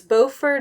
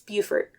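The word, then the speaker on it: Beaufort: that's bord and it's so it's bord North Carolina and Buford South car Carolina but they're both spelled the same way I just thought that was why not it was just like how to pronounce this because I don't want to say it wrong it's Buford so for turning in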